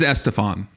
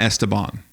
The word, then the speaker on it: Estefan: Oh, it really is Estefan. Yes. It's not Esteban. No, Esteban doesn't sound crazy to me, though. It's never been Esteban. I believe you that it's Estefan.